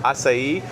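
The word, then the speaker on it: açaí: Asai. Acai.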